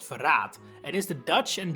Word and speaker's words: Verrat: Elfric's unique class in the Cindered Shadows DLC of Free Houses is Verraad, which is actually pronounced Verraad, and is the Dutch and German word for betrayal, referring to his character.